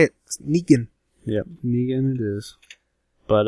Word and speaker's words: Negan: Negan.